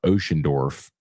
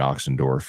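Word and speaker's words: Ochsendorf: add a transfer punter Blake ocean dorf is how you say it I was saying oxen dorf yesterday on AFR but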